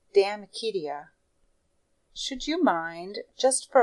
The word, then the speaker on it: De Amicitia: We've finished Livy and De Senectute, and now engaged with De Amicitia, pronounced De Amicitia.